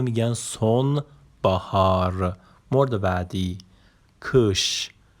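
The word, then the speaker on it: kış: مورد بعدی کش. نگاه کن، آی بی نقطه به صورت ا تلفظ میشه. کش اسی هم که پایینش دنباله داره به صورت ش تلفظ میشه.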